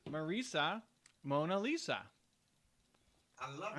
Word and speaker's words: Marisa: there's a woman who super successful entrepreneur, whose name is Marisa, and the way it's written, everybody calls her Marissa. Yeah. Because it just looks like that's what it'd be, Marissa, but she just pronounces it Marisa, and she's like everybody who, sees it, I have to tell them every time it's Marisa, and they keep messing it up, and then Eben Pagan gave her a solution.